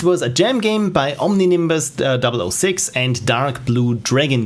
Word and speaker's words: Omninimbus: it was uh omni nimni bus omnibus zero omni nimbus there we go thank you so much this is why i introduced this pronunciation thing there to my questionnaire because uh